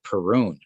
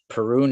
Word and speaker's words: Perun: of align him with this the thunder god perune perun is the one of the ancient gods of